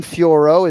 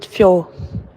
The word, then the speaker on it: Fiorot: in that instagram fioro manon fioro is not how she pronounces her name let's hear her see how she pronounced it my name is manon the best fjor my name is manon